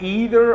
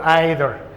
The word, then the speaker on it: either: You can either pronounce the word either or either. Either or you can say either or. It depends on which accents are you going to master.